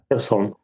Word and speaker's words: Kherson: Kherson? Kherson.